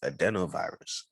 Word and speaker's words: adenovirus: okay so i'm back the proper pronunciation is adenovirus and the adenovirus goes